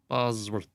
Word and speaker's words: Bosworth: Bosworth. Bosworth. Okay. Didn't know if it was an E or not. It's like Tom Bosley, but it's spelled Bosworth.